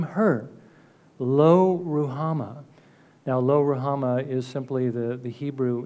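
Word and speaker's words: Lo-ruhamah: in verse 6 name her lo rouhama now Lo rahama is simply the the Hebrew Hebrew words this is the way we would pronounce it in Hebrew it means no mercy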